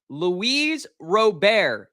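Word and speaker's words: Luis Robert: is something Chris wanted to talk about uh Louise robar did I go ahead and say it right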